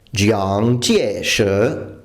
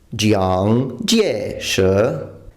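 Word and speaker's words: 蔣介石: questo nome in cantonese, ma conosco il cinese mandarino e il nome in cinese mandarino viene pronunciato Jiang Jieshi. Jiang Jieshi.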